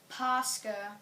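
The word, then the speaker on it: Пасха: The next holiday is Easter, which is Pascha. That is how they pronounce it.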